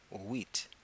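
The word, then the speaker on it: huit: H you I T the H is silent and you're left with the UI and the team wheat and that's how you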